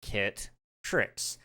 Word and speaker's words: Kitrix: And I quote, "Hello, exclamation mark, I'm Kitrix," pronounced Kit Trix.